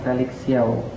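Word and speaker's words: Felix Siauw: Sebelumnya perkenalkan, nama saya adalah Felix Xiao. Sorry kalau seandainya memang agak sulit diucapkan, memang bukan disetting untuk lidah orang Indonesia.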